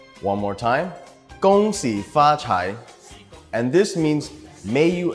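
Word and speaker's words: 恭喜发财: The first one is gong xi fa chai. One more time, gong xi fa chai.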